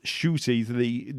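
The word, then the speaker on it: Ncuti: There's no N. Shooty Gutwa. It's Shooty. The sh sound is the NC sound.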